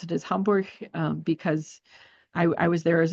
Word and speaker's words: Hamburg: It's like it's not Hamburg because you're not eating it.